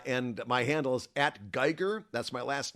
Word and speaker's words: Guigar: my handle is at Geer that's my last name it's spelled like guitar but with a G for a t yeah you're on Mastadon